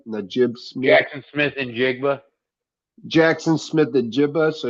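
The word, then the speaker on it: Jaxon Smith-Njigba: You're going to give somebody with Najib Smith, right? Did I say his name right? Najib Smith? Jackson Smith and Jigba.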